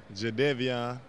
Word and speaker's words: Jadeveon: so go ahead and say it right now jedevian clowning congratulations i won in south carolina's mr